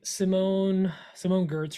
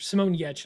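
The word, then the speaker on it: Simone Giertz: Yeah, I've been I just watched last night Simone Gertz, or Simone Yetch is the pronunciation.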